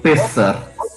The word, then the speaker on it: Pessach: é a origem da Pessa? É assim mesmo que pronuncia? Isso, Pessar.